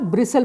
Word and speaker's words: bristle: तो ये देखिए यहाँ पर विसल का ब्रिसल भी हो सकता है, तो ये देखिए यहाँ पर हो सकता है ब्रिसल। तो यहाँ पर हम लिख सकते हैं BRISTLE, ब्रिसल, तो अगेन T यहाँ पर साइलेंट है।